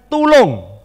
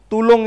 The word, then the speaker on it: tulung: Kemudian tulung. Tulung itu tulisannya T-U-L-U-N-G. Bacanya tulung.